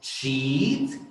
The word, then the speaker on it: sheet: Sheet es el sonido de la vocal es largo, es una I larga. Sheet, la palabra, la mala palabra, es corta, es shit.